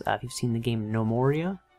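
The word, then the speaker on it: Gnomoria: If you've seen the game No Moria, spelled with a G, so gnomes, No Moria.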